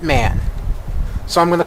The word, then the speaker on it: MAN: it's m m look I've even heard it pronounced on television okay they call it man so I'm going to call it man just like I try